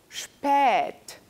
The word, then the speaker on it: spät: Por ejemplo, spät, tarde.